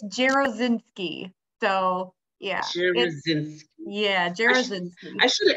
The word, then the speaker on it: Jarosinski: do you say your last name yeah it's gerozinski so yeah yeah I should have actually pronounce pronunciation earlier I should have said that